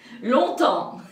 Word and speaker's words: longtemps: Pour parler français couramment, donc il faut attendre longtemps. Et longtemps, ça s'écrit EMPS. Longtemps.